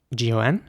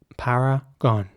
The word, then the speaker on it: paragon: The next word is spelled Paragon, and in British English it would be paragon. Paragon.